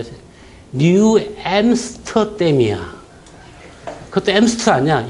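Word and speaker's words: New Amsterdam: 그래서 암스테르담, 뉴 암스테르담 막 몰라. 그랬더만 하더만 지가 뭐라는 줄 아세요? 뉴 엠스터댐이야.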